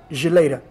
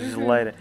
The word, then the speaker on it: geleira: how it's said in Angola, but it's familiar: geleira. Is it the fridge? Geladeira in Brazil, Portugal frigorífico, Angola geleira. Really, geleira?